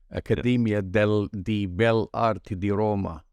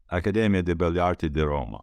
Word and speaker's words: Accademia di Belle Arti di Roma: very prestigious Academy of Fine Arts in Rome, Accademia di Belle Arti di Roma. Accademia di Belle Arti di Roma. That's the proper, difficult pronunciation.